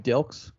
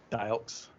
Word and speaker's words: Dilks: dilks yup okay cool yeah it gets it gets mispronounced like crazy dials dials dicks you know what i mean it's the easiest last name i think that you know it doesn't help that i have an accent so when i talk like i don't pronounce my elves in jersey we don't pronounce elves i guess yeah and